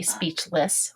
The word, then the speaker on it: speechless: with the correct words now when we say speechless we usually say it with the it sound I set schwa kind of has that soft tone to it it